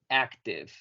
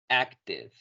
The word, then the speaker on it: active: Aquí un caso parecido en el que vamos a no pronunciar la última letra y la letra I se va a pronunciar como como I en este caso. Entonces, esta palabra la vamos a pronunciar sin olvidar pronunciar la V casi como una F.